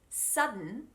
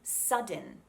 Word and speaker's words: sudden: n by the way i'm saying sudden but i'm not saying sudden it's a silent d so all i do